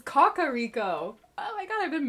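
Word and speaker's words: Kakariko: Brave that's the first time I've ever heard kakaro pronounced like in an ad or like trailer or something I always called it kakaro so it's Kaka Rico oh my god I've been mispronouncing it this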